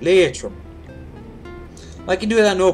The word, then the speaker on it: Leitrim: Leitrim. You have to say it like that. Leitrim.